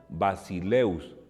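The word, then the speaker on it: βασιλεύς: el artículo masculino singular si el acento va sobre un diptongo se escribe sobre la segunda y se pronuncia en la primera es curioso pero así es ejemplo basileus que significa emperador y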